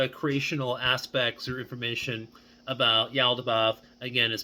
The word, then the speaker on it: Yaldabaoth: but it does work very well if you pronounce it with an eel like with an eelody bath okay um and here's the funny thing I'm